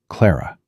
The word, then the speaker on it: Clara: Not Miss Whitmore, not ma'am, just Clara with a weight on the first syllable that made it sound like something more than a name.